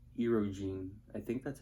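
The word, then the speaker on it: Erdoğan: dangerous what about turkey what's that guy's name erogene I think that's how you pronounce it EO that guy's a piece of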